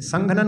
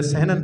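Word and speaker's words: संहनन: उसको गिनती नहीं करते, संघनन बोलना चाहिए। आप लोग जो सहनन बोलते हो, सहनन में क्या बिंदी का उच्चारण ही नहीं होता, तो संघनन आता है उसमें।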